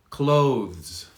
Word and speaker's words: clothes: vegetables vegetables very difficult clothes clothes if you're struggling with the th i can give you a shortcut and just say close close the door close we can't hear a difference really close consequent consequent but